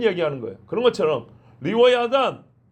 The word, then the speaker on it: 리워야단: 그런 것처럼 리와야단, 이제 영어식 발음으로 리바이어던이라고 그래가지고 토마스 홉스가 기독교 조롱하려고 리바이어던이라는 책을 썼어요.